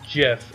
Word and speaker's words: GIF: The creator says it's GIF and only GIF. Like the peanut butter. I don't know. Oh, I see myself flip-flopping to like both. GIF and GIF.